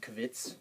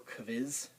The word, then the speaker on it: Quiz: Q, you know, in English where we say quiz or quilt, there's no w sound in German. This word, quiz, it's pronounced kvitz or kviz because they take this word from us.